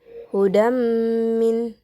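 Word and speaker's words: هدى من: Di sini terdapat lafaz hudam min, yang dimana hukum bacaannya yaitu idgham bigunna, yang dimana huruf da yang berharokatkan berharokatkan tanwin ini bertemu dengan huruf mim, yang dimana cara bacanya pun harus dengung, hudam min.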